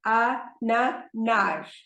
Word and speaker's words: ananás: See, there is an accent on the last syllable, ananás. There is an accent on the last syllable, so the emphasis is on that syllable, but there is an accent. So, o ananás.